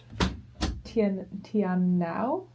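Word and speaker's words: Te Anau: pronounce the town name? Try it. Tianao? That is Gold Star.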